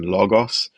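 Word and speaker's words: λόγος: only has one mora, like in logos. So that ultima os, that gos syllable, is only one mora. So the high tone is on lo, and then you get gos, and then you have the falling to low occur on that mora.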